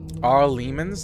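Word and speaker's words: Arl Eamon: Ar Lemans, that's how you say it.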